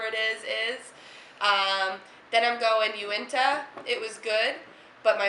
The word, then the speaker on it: Uinta: Uinta? Yep, That's how you pumpkin ale.